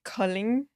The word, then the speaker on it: Kolding: It's a place called Kolding. Kolding? So that was a good. Kolding? Yeah, Okay, good pronunciation.